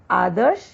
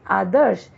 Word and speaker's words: आदर्श: वैसे ही आदर्श, ये फूल है, होना चाहिए आदर्श, क्योंकि रेफ का उच्चारण श और द के बीच में हुआ है, इसलिए रेफ को हम कहाँ लगाएंगे, श के ऊपर लगाएंगे।